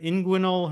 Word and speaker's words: inguinal: a a hernia a right side am I pronouncing it right inguinal hernia yep um so the the whole food